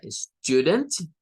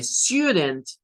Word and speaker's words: student: Entonces, ustedes escucharán que algunas personas agregan como el sonido del you acá, el you, y dicen student, student, student, student. Son dos pronunciaciones para la palabra estudiante. Y las dos pronunciaciones, digamos, son correctas, ¿verdad? Son correctas.